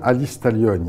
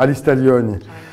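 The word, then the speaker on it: Alice Taglioni: on y retrouve alistalogne alors je dis bien alistalogne he parce que le G ça se prononce pas en cor ou en italien alors alistalogne on la retrouve elle est super belle elle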